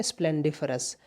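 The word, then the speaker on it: splendiferous: यहाँ पर DIFEROUS, इसे बोलते हैं स्प्लेंडिफरस।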